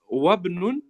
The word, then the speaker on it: وابن: Yes, it's wabnu because this alif here, Okay. it's known as hamzatul wasl. So you only pronounce this in the beginning of a sentence.